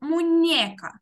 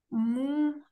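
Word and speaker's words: muñeca: Мунека. От, але там не ене, а енне. Зверніть увагу, мунека.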